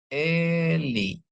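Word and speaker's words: אלי: konsonan alep dan Ain ini ada alep ini ada Sere ini ada lamet ini ada hirik Yod ya jadi bacanya Eli ya Eli ya jadi komanya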